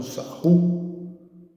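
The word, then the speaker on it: Sarrus: Aí a gente consegue calcular pela regra de sarros, né? Ou sarru, lá como é que é a pronúncia do francês, ó.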